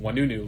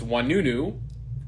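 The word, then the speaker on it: Ouanounou: despite the 6 vowels, is Wanunu, pronounced Wanunu, like a W-A. And my dad's from Marrakesh, Morocco, where O-I is in French, makes a wa sound, hence the spelling of it. So it's Wanunu with the O-I making a wa sound.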